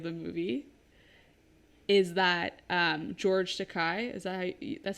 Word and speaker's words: Takei: One of the facts that came up at the beginning of the movie is that George Takei, that's how you say his name, right?